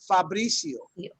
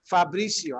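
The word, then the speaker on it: Fabrizzio: So my name in Spanish, which has 2 Z's, dos Zetas, it is actually pronounced Fabricio. Fabricio. I'll spell that out for you so you can see. Look, Fabricio. Okay, even though it's got 2 Z's.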